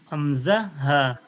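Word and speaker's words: ء: জায়গা থেকে উচ্চারণ হয় হামজা হামজা হা কণ্ঠনলীর এই জায়গা থেকে নিচের কণ্ঠনীর এই যে কণ্ঠনীর নিচ থেকে হামজা আবার এই কণ্ঠনীর নিচ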